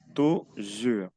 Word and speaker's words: toujours: La S no se pronuncia. Toujours.